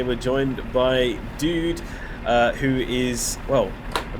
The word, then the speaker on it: Duude: it pronounced it's like dude or dude yeah just it's just the same as the normal one with one year well